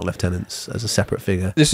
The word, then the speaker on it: lieutenant: the pronunciation of stuff, they said it's not lieutenant, it's lieutenant. Depends where you are in the world. But it depends where you are in the world. And I was like, because it is a French word and they say lieutenant. And the Americans say lieutenant.